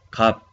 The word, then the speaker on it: 값: Kap. Aunque tiene dos bachim, piyub y siot, pero pronunciamos solo primero bachim, biup, no más. Cap.